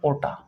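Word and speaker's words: aorta: था कि यह है ओटा इसमें आर साइलेंट रहता है तो इसे ओटा या फिर आटा लिखते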